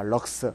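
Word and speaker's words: lux: LX라고 적고 읽기는 뭐라고 읽는다? 럭스라고 읽습니다. 럭스.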